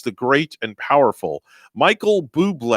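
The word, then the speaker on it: Bublé: and powerful michael buble a lot of people say his name bubble yeah don't know why when you see it that's what you're seeing at first but yeah blue but the accent is over the east so you should say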